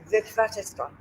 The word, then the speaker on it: Witwatersrand: Pronounce it for me. Witwatersrand? Witwatersrand.